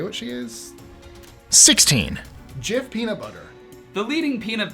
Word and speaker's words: Jif: Jif peanut butter. The leading peanut butter in the United States since 1981, Jif peanut butter is a very popular snack, but an alternate memory recalling it as Jiffy peanut butter is widespread.